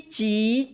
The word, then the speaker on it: 即: 飞机即将的声调是一声飞，一声机，二声即和一声的将。